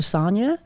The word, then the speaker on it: Sonja: at I am Dr Sonia I am Dr Sonia my name's spelled with a J by the way so s o NJ um or go to